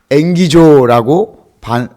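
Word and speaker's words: ἐγγίζω: 여러분 재밌게도 가까이라는 헬라어 원어가 앵기조라고 발음한다고 그래요.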